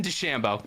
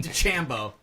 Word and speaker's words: DeChambeau: It's Bryson DeChambeau. Please fucking Whatever. say it right. Bryson DeChambeau.